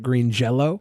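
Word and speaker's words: Green Jellÿ: name to green jelly they did the way it was spelt but they still pronounced it green jello it's true uh the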